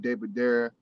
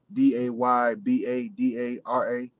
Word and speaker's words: Day Badara: Like, it's just Day Badara. It's how it's spelled, is how you say it.